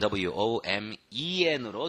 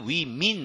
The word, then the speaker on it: women: 거기서 이제 복수형으로 할 때는 W-O-M-E-N으로 뒤에가 스펠링이 달라지지만 발음은 앞에만 바꾼다고 생각하세요. 앞에만 바꾼다고 생각하고 그리고 뒤에는 그냥 따라만 와. Women. Women. Woman. Women. 다르죠? 엄청나게 달라요. Right? 근데 we mean 막 이런 사람도 있고 그래.